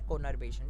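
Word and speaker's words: conurbation: कुनार-बेशन जो है या कॉनर-बेशन, ठीक है, या आप लोग चाहो तो जो भी प्रोनाउंस करना चाहो आप कर सकते हो, but according to मी द कॉनर-बेशन is right.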